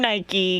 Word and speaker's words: Nike: I do not know how to say the name Nike because I've been calling it Mike for 39 years you